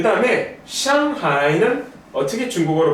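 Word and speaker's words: 上海: 그 다음에 상하이는 어떻게 중국어로 발음하냐면요, 이렇게 발음합니다.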